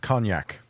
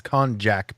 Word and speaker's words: konjac: reasons, is something called konjac flour, Konjac. It's also known as glucomannan powder. All right. So it's not pronounced cognac. No.